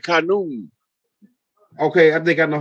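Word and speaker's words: Khnum: That's Khanum, I think is how you pronounce it. You talking about Amun, right? Amun Ra? No, his name is like Khanum.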